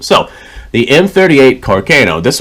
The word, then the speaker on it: Carcano: to be the M38 carono rifle Carano carono however it is you want to pronounce it as long as you know what I'm saying I really don't care how it's pronounced so the M38 Carcano